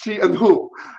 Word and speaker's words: Chihu: like i always go it's two syllables it's she and who you are that don't